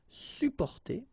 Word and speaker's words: supporter: You can also add this SUP in front of porter, sup, supporter, supporter. You don't really pronounce the two or the double P here, supporter.